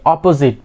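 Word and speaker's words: opposite: The last one ইজ আমরা কি বলে থাকি অপোজিট, বাট it will be অপোজিট। Okay, অপোজিট, অপোজিট। স্ট্রেসটা কি হবে প্রথম ইপির মধ্যে হবে, অপোজিট, অপোজিট।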